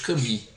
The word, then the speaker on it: Camus: Eu ia recomendar para ele Alberto Cami, né, Camus, né, como se escreve.